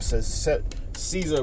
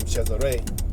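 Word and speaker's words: Cesare: Christos chesare bour or some call him Caesar bour um if you watch the the bour series on show Showtime They pronounce his name chesare bour check it out very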